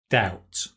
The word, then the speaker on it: doubt: doubt without a doubt doubt i know it's got a b but you don't pronounce it without a doubt and